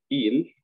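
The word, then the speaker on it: ils: Ellos, il, no se pronuncia la S.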